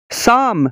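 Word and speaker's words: psalm: का L silent है साम साम का मतलब है हमद सना शम का पी और एल साइलेंट है बाम बाम का मतलब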